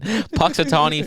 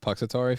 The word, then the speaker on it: Punxsutawney: the Seer of Cyrus in six weeks and Punxsutawney Phil but I can't pronounce I'm gonna talk about it still it's pux Atari Phil Punxsutawney Punxsutawney indeed you're the worst I've